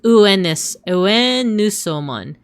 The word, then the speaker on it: Venusmon: how to read it, it actually reads as Uenusomon. Uenusomon. So Venusmon. Which is a little bit closer to how it would have been pronounced in Latin.